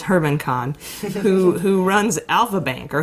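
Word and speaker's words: German Khan: of a Russian oligarch named Herman Kahn which is spelled like German Cohn but it's Herman Kahn who runs alpha bank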